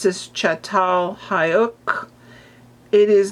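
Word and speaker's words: Çatalhöyük: We see art, painting, sculpture and you pronounce this chatal hayuk.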